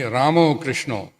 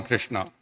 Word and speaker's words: Krishna: a Bengali song and in Bengal in Bengali all the letter a is PR pronounced as o right so if we saying then must be krishno it can't be Krishna then we mixing it